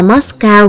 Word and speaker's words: Moscow: nhiều cách khác nhau trong tiếng Nga là moshe đối phương âm tiếng Việt đọc là Matxcơva còn trong tiếng Anh đọc là mas cao à ở Matxcơva ban